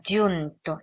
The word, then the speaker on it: giunto: 주 제가 지난번에 이탈리아노 G 발음하는 거 가르쳐 드렸는데 giunto 이런 발음이에요. giunto가 아니라 좀 더 깊이 나오는 발음입니다.